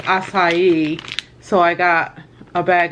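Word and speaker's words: açaí: A lot of people call it acaya or acaya, but it's actually, I think, pronounced acai.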